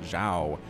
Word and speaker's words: xiao: I do not speak any sort of Asian language, but as far as I know, Z-I-A-O is pronounced Zhao. Please correct me in the comments if I'm wrong, and I'll try not to make that mistake again.